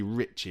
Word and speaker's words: Ricci: and Man City and it's probably Ricci actually.